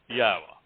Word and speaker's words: Yahowah: If you can say Shalom, you can pronounce the only letter that would throw anybody off in Yahweh's name, which is the Wah, that beautiful tent peg